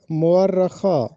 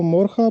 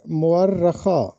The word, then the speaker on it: مورخہ: درست تلفظ بتانا ہے۔ اکثر لوگ اس کو غلط پروننس کرتے ہیں۔ یہ درست تلفظ ہے مورخہ، ہم اس کو مورخہ پڑھتے ہیں، جبکہ درست تلفظ ہے مورخہ، میم پر پیش ہے اور رے پر زبر ہے اور شد بھی ہے۔ مورخہ، رے کو 2 مرتبہ پروننس کرنا ہے، درست تلفظ بنے گا مورخہ، یعنی گزری ہوئی تاریخ۔